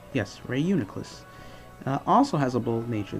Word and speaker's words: Reuniclus: I think that's how it's pronounced, right? Yes, Reuniclus.